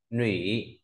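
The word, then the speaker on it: 女: sang bộ nữ nói về người con gái đọc là gì ạ ny Uy nhá ny rồi ch ny này ta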